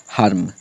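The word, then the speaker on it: harm: उसके बाद ये भी एच ए आर एम ए के बाद आर है मतलब इसको हम आ से ही पढ़ेंगे हार्म यहां पर भी वाई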